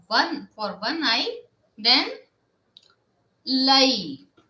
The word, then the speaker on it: l'œil: And if we talk one for one eye, then l'œil. O E I L and L apostrophe O E I L. And we will pronounce l'œil.